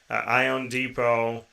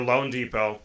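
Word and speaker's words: loanDepot: Then it's the Miami Marlins, Ion Depot, or Lone Depot, pardon me. It's spelled different on I here.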